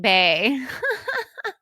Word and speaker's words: bae: It's called Brand Saying Bay. And that's spelled BAE, just for reference. Like Bay, Okay.